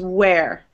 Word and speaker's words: where: W-H-E-R and W-E-A-R and W-A-R-E is where. Where. The only time you ever pronounce it were is when it's spelled W-E-R-E.